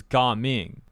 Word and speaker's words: Jia Ming: Ga is the Cantonese pronunciation of Jia. His name is Jia Ming, but pronounced as Ga Ming.